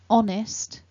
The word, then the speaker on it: honest: left shows us that the first syllable is the strongest syllable so when we pronounce the word honest the on is stronger